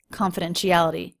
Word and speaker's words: confidentiality: Secondary stress, little light curve up, confidentiality. And then we get the bigger stress there. Notice this T is a flap T, confidentiality. And this one, confident, sounds like a CH sound.